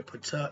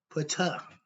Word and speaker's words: Ptah: Let's start with Pata. We spell P-T-A-H, but the P is silent.